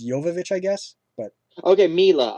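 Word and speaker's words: Jovovich: an evil with mila shovovich yeah did i get the name right uh well i guess it's pronounced technically it's yovovich i guess but okay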